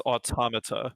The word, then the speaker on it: Automata: Is that how you pronounce that? It's Automata.